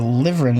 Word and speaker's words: Liveryn: Okay, so Liveryn is how her name is pronounced.